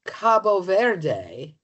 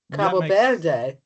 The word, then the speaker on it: Cabo Verde: And I'm finding that those who live there, who I'm not going to try to pronounce, are more likely to call it Cabo Verde. Cabo Verde.